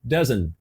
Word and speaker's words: doesn't: essa palavra o doesn't esse T foi ignorado ela não pronunciou se t e a pronúncia ficou doesn't doesn't repete aí ó doesn't